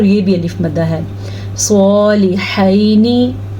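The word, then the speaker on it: صالحين: صالحینی، سواد پر پڑھنا ہے. ابھی ہم نے ذکر کیا تھا نا حروف مستعلیہ کا، یہ سواد اس میں شامل ہے.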